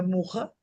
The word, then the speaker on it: Mucha: Y la ilustración que tiene es una ilustración que hizo el artista que se escribe mucha, pero que se escribe, digo, se pronuncia muja de Ardec.